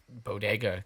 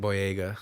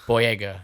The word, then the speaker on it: Boyega: For that bodega character, that guy, he obviously got it over him. Boyega. Boyega, that's how you say it.